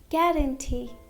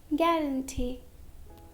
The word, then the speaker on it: guarantee: Letter U is silent after a G and before a vowel.